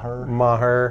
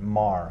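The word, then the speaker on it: Maher: at Brett mayor ma ma her although PlayStation 3 will pronounce it Mar on NCAA football 2012 instead of ma her at least a good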